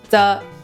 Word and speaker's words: 这: Eh bien, comme « zhe ge duo shao qian », 这 peut se prononcer comme un j , donc vous pouvez aussi le dire.